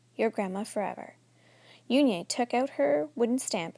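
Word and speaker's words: Unhei: turned to Joey she nodded slowly yes it's pronounced Yun and it means Grace Mr Kim added Yun Joey said slowly and this time perfectly it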